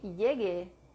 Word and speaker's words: llegue: If you see llegue with GU replacing the G, it is to maintain the hard G sound, G.